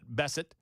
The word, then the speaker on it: Bessent: of the Treasury Scott Bessent. Am I pronouncing that right? No, Bessent. Bingo. Is that right? Okay, good.